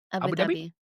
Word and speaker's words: Abu Dhabi: How do they pronounce it? You live there. Tell me. Abu Dhabi.